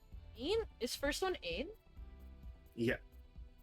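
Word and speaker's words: een: Ain?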